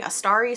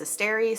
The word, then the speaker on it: Asteri: Also, I realized I maybe have been saying Astari some of the time. It's Asteri, so if you're here to correct me on my pronunciation, please don't. I'm aware, thank you.